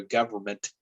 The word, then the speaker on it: government: to uh you know that in an m sound together is hard to sort of distinguish you know for speaking fast we just kind of go government uh and and overlook that in uh and so we kind